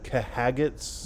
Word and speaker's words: Khajiit: And then there's the Kahagats. Yeah, No. definitely pronounced like that. Although I find it funny Khajiit.